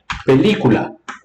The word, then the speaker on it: película: no dividida a ele qual é a sílaba tônica película a ele película esse aqui tá então ela é a última penúltima ou antepenúltima é a antepenúltima essa aqui é a